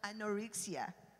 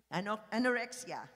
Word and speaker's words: anorexia: Anorixia. How do you pronounce the word? Anoria. Anorexia. Okay. Thank you for correcting my pronunciation.